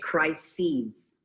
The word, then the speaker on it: crises: And when plural, how can we pronounce it? Crises. Crisis. Crises. Crisis. Yes. Like the sea.